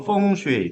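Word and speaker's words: 風水: 숫자를 그래서 전 세계적으로 학술적으로 펑 슈웨이 중국 발음으로 펑 슈라 하는 걸로 학술적으로 지금 이제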